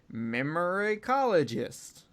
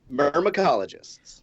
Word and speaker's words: myrmecologists: an expert in the word Daeron said earlier, memorycologist. I didn't pronounce that right. How do you pronounce that, Daeron? Myrmecologists.